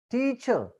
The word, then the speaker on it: teacher: r the pronunciation s teacher R is not pronounced there so that happen in